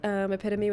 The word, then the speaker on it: epitome: Lots of people pronounce epitome with 3 syllables. It's pretty much an alternative pronunciation at this point.